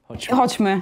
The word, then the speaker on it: Chodźmy: I was trying to learn some new words, and Chodźmy, am I saying it right? Chodźmy, yeah, Chodźmy, it's very good.